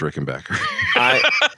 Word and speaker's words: Rickenbacker: First of all, BACK is not pronounced Bach.